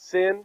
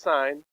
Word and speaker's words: sin: notice we have abbreviations it's not sin it's sign it's not cost because